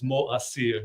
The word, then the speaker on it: Moacyr: The right pronunciation is MoAcyr. It has to make MoAcyr. 3 syllables. Yeah, Three syllables.